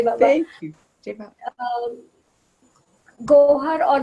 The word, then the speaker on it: Gohar: Gohar or Gaver, I don't know how to pronounce your name because Gohar. Baba always said go and then a her, Gohar.